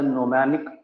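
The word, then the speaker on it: gnomonic: G is silent here. It's called as a mnemonic projection.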